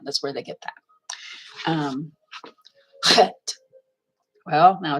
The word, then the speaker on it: chet: Hey is, but chet. Okay, you got to give it that sound, and it is like the sound in the word lock or bach.